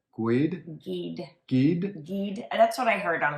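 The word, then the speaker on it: Guede: guy named rudy and i pronounced his last name wrong it's like gwyd that's what i heard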